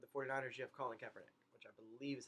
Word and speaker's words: Kaepernick: With the 49ers, you have Colin Kaepernick, which I believe is how you pronounce his name. I'm not positive, but I believe it's Kaepernick, who just started not even halfway.